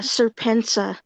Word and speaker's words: Serpentza: But Have you seen, go look at Serpensa. Go look at his videos. so It's spelled, yeah, it's spelled SERPENTZA, and go look